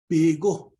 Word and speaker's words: Bigo: Bigo. This is how you would pronounce that black stuff after that fire is out.